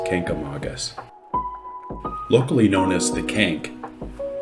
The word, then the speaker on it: Kancamagus: among visitors and locals while many call it the kangamangas or cancamangus the true pronunciation is kenkamagus locally known as the